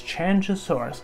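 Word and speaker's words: Qianzhousaurus: that first came out i could not say it at all i was like kanga chandra uh what how do you say it it's chanchasaurus which gotta say is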